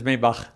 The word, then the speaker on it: Maybach: In German is Maybach, but it's a Maybach is fine.